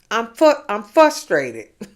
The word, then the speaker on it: frustrated: You pronounce it frustrated. Not fuss like you fussing. Frustrated, yeah. It's not it's not how you fussing. You fussing, so you frustrated. Okay, no, it's frustrated, like fraternity.